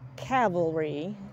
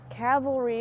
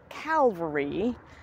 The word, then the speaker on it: cavalry: A that is for Cavalry Cavalry is the guys that ride the horses it's spelled c a v a l r y it is frequently mispronounced as Calvary which is spelled c